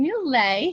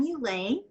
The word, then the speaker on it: Mulet: It rhymes with creme brulee and Chevrolet, and filet.